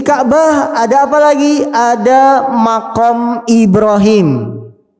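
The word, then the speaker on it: مقام: Ada makom Ibrahim. Makom itu bukan makam. Makom secara bahasa Arab tempat pijakan. Jadi jangan dibacanya makam. Kalau makam kuburan.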